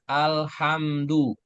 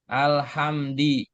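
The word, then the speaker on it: الْحَمْدُ: Misalkan contoh ayat alhamdu ya kan itu kan du gitu. Iya. Alhamdu harakat rahnya pasti domah du enggak mungkin alhamdi ya karena ayatnya di awal alhamdu gitu.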